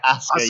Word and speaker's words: Asuka: Asuka, yes.